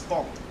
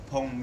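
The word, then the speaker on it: phonk: Uh with a short O sound, almost like funk.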